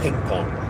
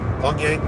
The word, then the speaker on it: Pyongyang: They called it Ping Pong because they couldn't pronounce it. Pyongyang, but they said Ping Pong.